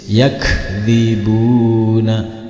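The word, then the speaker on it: يكذبون: Ketika dihentikan cara membacanya yakdzibun.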